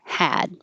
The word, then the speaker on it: had: a little shorter so number 11 would be a little shorter hat and number 12 will be a little longer had why because with the